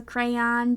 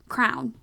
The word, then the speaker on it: crayon: one at all is they pronounce it as Crown I was like no it's definitely not Crown at all I disagree like I can get behind like obviously crayons make sense to me as a reading teacher crayon is how I grew up saying it so that also makes